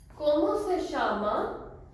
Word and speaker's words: como se chama: ध्यान रखना ये दो स अलग है, ये स है, ये श है। como se chama, como se chama। अब थोड़ा सा हम जल्दी बोलेंगे इसको। como se chama, como se chama।